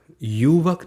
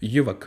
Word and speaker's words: युवक: फिर आगे लिखा है युवक, युवक नहीं बोलना है, क्या बोलना है, युवक, बोलिए तो युवक।